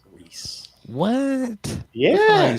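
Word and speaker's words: Rhys: name Rees r h Ys Reese what yeah you spell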